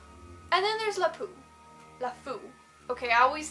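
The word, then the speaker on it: LeFou: to murder more recent like and then there's lipu the food okay I always thought it was lapu but apparently fluff ooh which is fine i've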